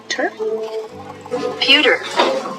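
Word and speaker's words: pewter: P E W T E R puter. How do I say that pronunciation? Pure. Pewtor. Oh, it is pewtor.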